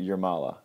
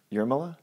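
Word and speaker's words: Jūrmala: guys are hosting and uh so i've been pronouncing it your mala it's your milla your mama your mom okay that's fun that's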